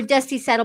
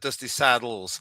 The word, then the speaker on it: Dusty Saddle: Well, it was baptized as Dusty Saddle, but a lot of the authors call it Dusty Saddles. So, we go with either really.